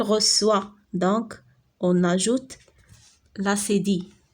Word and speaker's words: reçoit: قلنا السي مع او شنو كتقرا؟ كو غتقرا il reçoit. والنطق الصحيح ديالها هي il reçoit.